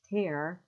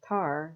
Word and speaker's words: Tara: Lanigan and her mom that's pronounced ter like to rip something apart up she hates when people call her car like some black black stuff uh and she's eight